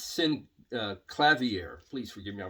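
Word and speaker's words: Synclavier: autoharp organ and synthesizer no it's not synthesizer in is sin clavier please forgive me I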